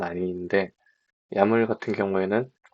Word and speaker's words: YAML: 한국에서는 주로 이제 야물로 발음을 하기 때문에 앞으로도 야물이라고 발음을 하겠습니다. 그, 이 야물 같은 경우에는 어, 들여쓰기를 통해서 이제 값을 구문을 하게 됩니다.